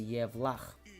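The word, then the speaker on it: Yevlax: In English, I guess that's how it's pronounced. In our language, it's going to be Yevlakh, Yevlakh, Yevlakh, Yevlakh, Yevlakh.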